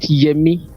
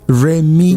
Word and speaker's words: Remy: Not Yemi. Remy. Remy. Okay, it's the way I was pronouncing it. Remy, as in R-E.